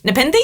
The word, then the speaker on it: Nepenthe: okay that says Nippon to me I'm the pen really nothin seriously this is spelt and epen the th e si R nd Nepenthe oh that sounds good